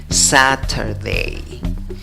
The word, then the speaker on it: Saturday: sombrero como pronunciando con el sombrero y como pronuncias esta palabra sans saturday la palabra 7 domingo se escribe con seis